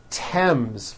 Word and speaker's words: Thames: Although these next words and names are spelled with a TH, they are pronounced as if they were spelled with a normal T, like that.